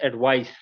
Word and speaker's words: advice: it is pronounced as advice. Okay, the difference is as a noun when we are using c, it is pronounced as advice, while using s, we pronounce it as advise.